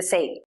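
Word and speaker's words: ဇ: The next two are pronounced the same. Sa. The sound is pretty much the same as z sound in zoom.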